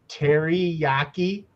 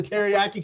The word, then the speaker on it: Teriyaki: It's really supposed to be like you said, Marcus, Terry, but they pronounce it teriyaki. I mean, that's how they Well, I would pronounce have pronounced it like that if I read into it a little harder.